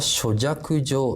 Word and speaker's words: 書籍上: およそここは諸弱上と読むのがいいですよね。